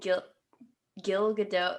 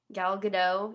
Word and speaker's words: Gal Gadot: Kristen Wiig and Gil Gadot. Is that how you say it? Gal Gadot.